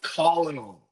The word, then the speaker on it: colonel: Oh, it's colonel. That's like kernel.